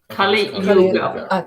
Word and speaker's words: KaliYuga: So speaking about a new release, KaliYuga, do I pronounce it right? KaliYuga. KaliYuga.